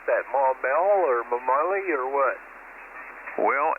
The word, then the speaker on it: Maumelle: Well, it is spelled here Maumelle, but the French explorers thought the mountains in the vicinity looks like a familiar object, which is spelled Mamelle. So that's how that came about.